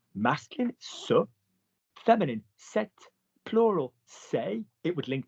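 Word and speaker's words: ces: Say, say, C-E-S. No problem, we can remember say because we know may and te and say, S-E-S, same pronunciation.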